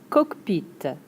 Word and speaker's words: cockpit: C-O-C K-P-I-T, le cockpit Next up exactly the same en français and en anglais - le cockpit. "coke" "peet" cockpit Kinda like coke like a Coke-- like a soda.